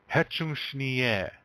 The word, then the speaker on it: Hecun sni ye: Now, for women, they're just going to change that yo to ye. All right? Hetchushni ye.